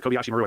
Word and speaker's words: Kobayashi Maru: If you're watching this in training and you find yourself in an intractable situation like this, in the Kobayashi Maru, that's how you say it.